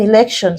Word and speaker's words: election: And then election, still ending with ION, so we stress the second syllable.